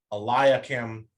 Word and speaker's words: Eliakim: Generally, I's before A's are always Aya. So like Hilkiah, Eliakim, Hezekiah, that sort of thing.